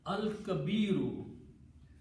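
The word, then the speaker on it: الكبير: And al will just change to this to kabiru, al kabiru. And when you stop, you have to pronounce last letter with a sukoon.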